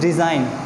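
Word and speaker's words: design: यहाँ पे क्या हो रहा है, जो G है वो साउंड क्या हो रहा है, वो साइलेंट हो रहा है और N का साउंड जो है वो हमें सुनाई दे रहा है। डिज़ाइन, G यहाँ पे साइलेंट है।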